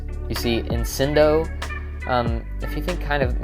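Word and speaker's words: incendo: So also pronouncing this one with the C kind of like an S. You see incindo.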